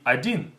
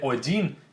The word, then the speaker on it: один: So instead of saying один, it requires a lot more work than to say один. Один, один. Look at my mouth, right? Один, один. It's much more movement.